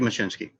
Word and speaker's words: Machcinski: Yes, it's Steve Machcinski.